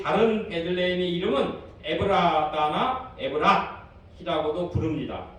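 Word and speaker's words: בית לחם: 이런 반면에 유대 베들레헴은 우리가 이 헬라말로 조금 정확하게 발음하면 베이트레헴입니다.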